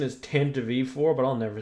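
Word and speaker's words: Tantive IV: Also, the correct pronunciation is Tantive4, but I'll never say that shit.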